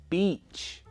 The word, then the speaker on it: beach: If it's the long E sound, that's beach. The short I sound, that's bitch.